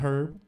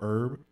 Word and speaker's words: herb: There's current definition of herb or herb, however you pronounce it. Oh, now you was gonna say herb. You What? said herb. It's two. It has. It's pronounced both ways.